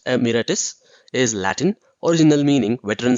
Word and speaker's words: emeritus: The word emeritus, pronounced emeritus, is Latin, original meaning veteran soldier.